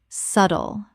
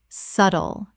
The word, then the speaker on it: subtle: Subtle. Correct pronunciation. Subtle. The B is completely silent. 2 syllables only.